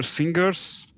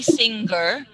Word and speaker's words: singer: a singer you were singers the G sound okay try to remove that so don't say singer uh but say singer singer singer singer yes okay again